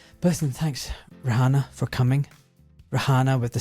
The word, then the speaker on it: Rehiana: It's not hard, Raana. Yeah. Well, you pronounced it wrong the first time.